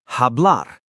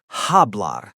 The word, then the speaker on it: hablar: But in Spanish, the H is completely silent. Always, no exceptions. Hola, not hola, just hola. The H is invisible. Hola, hablar, hacer, hambre. Hablar, to speak, not hablar, just hablar.